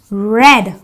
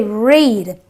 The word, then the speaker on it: read: is a DED dead the same word the EA gives me the S sound so I say red I don't say read just to let you